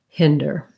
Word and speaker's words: hinder: um and unlike it it's got the same sounds as tinder it is not the same as a word like finder that has the i